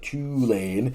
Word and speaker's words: Tulane: show, the Bayou Bulletin, says that's how you pronounce it, Tulane.